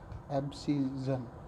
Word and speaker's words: abscission: 21वां है एब्सिजन, प्रोनाउंसिएशन थोड़ा, स्पेलिंग है ABSCISSION, एब्सिजन, एब्सिजन।